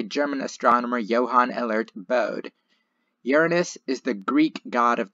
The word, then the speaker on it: Uranus: original name of the God who knows and Uranus is the preferred pronunciation among astronomers with Uranus being an acceptable variant you Uranus has a